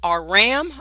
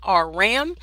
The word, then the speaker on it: Aram: It is pronounced Aram, Aram, and it's where Balak was from.